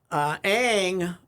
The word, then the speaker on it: Ng: Ang. It's spelled NG, NG. but there's an A.